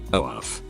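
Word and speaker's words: œuf: The word egg, and Français, oaf. Now kids, to say it properly, try punching yourself in the stomach.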